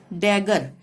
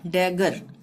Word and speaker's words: dagger: तीसरा नियम है डबल जी के बाद कोई भी अक्षर हो, डबल जी के बाद कोई भी अक्षर हो ग का उच्चारण होगा। जैसे डैगर, DAGGER, ठीक है, डबल